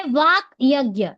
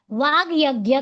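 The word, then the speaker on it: वाग्यज्ञ: उसे वाक यज्ञ एक्चुअली वो है वाक। लेकिन वह य के साथ मिलकर क ग में हो जाता है। जस्त्व संधि वाग यज्ञ कहते हैं।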